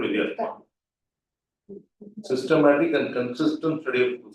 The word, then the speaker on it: Vidyatma: Vidyatma, pronunciation correct, Vidyatma.